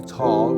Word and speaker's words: Thal: The old German word for valley was Tal, or T-H-A-L, Tal with a silent H.